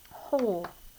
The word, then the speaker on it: hole: oh oh oh sound it changes the sound of the o just a little bit l but we need to have the silent e at the end hole okay and we're going